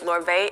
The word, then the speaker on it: Lorvae: incorporate my middle name um and so you spell it so my brand name is larvae l-o-r and my middle name is